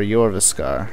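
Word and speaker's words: Jorrvaskr: been a while uh jasar or yasar as they pronounce it that is where you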